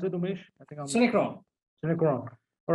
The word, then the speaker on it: Synechron: With Synechron, how do you pronounce it, Umesh? Synechron.